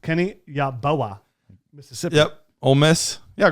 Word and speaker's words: Yeboah: It's Yeboah. It's pronounced Kenny Yeboah, Mississippi.